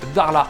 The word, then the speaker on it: Dakhla: est à dar là ça s'écrit dakhla des acca h elle a ça se prononce darlas c'est une péninsule qui